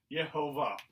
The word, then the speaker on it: Jehovah: of god ye ho jehovah and so that's how they began to pronounce it it was they combined the consonants of the name of god with the vowels of adonai which means lord and that's how they came